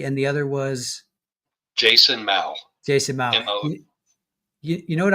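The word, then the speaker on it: Mow: Mau. M o w like mo but ma. It's pronounced mau.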